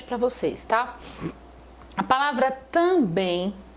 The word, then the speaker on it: também: pronuncia tá m m o som do M não é pronunciado o som que é pronunciado aqui é o som do ã que é um som